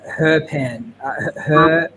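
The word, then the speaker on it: Herbin: my point of view oh it's actually uh herpen he taught me that yesterday yeah sweet russell was here for the pronunciation of it russell was using our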